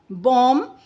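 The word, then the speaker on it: bomb: इन the words given below the letter B is silent when it अपीयरर्स with M और यहां पर letter B जो है वो साइलेंट हो जाता है जब वो एम के बाद एम के बाद आता है।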